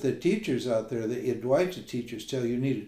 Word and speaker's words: Advaita: So these teachers, this modern Advaita, or the Advaita, they call it. They don't even pronounce it properly. The actual pronunciation is Advaita.